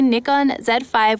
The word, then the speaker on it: Nikon Z 5: and i have the nikon z5 which we'll be using to take out photos with today and yes that is how you pronounce it in australia you guys heard it